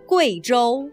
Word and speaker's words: Guizhou: Veuillez noter que, dans le nom de cette province et de sa capitale, le « U » plus le « I » se prononce « Wei » et non pas « Oui ».